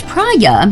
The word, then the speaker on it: Praia: Pronounced prya, meaning beach in Portuguese.